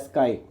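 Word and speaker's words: χ: इसको हम लिखते तो सी एच आई यानी कि ची है लेकिन इसको प्रोनाउंस किया जाता है एज स्काई। राइट? तो ये जो ग्रीक लेटर है इसको आप बोलोगे एज स्काई and this particular letter denotes the mole fraction.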